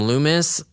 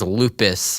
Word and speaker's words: Loomis: the movie um and this character named loomis i i pronounced his name as lupus i think well no